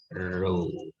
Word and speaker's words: rho: P juga, massa jenis, ini kayak P kecil adalah bacanya rho. Ini ya dibaca rho.